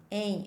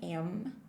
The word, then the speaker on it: em: Em. And look to my mouth when I pronounce it, okay? I'm not saying am. I'm saying em.